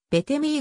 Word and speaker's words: ベテミー: 右投両打せーの発音はベータ名であり最後の t を発音しないため日本語表記はべて右が原音に忠実であるがべてミット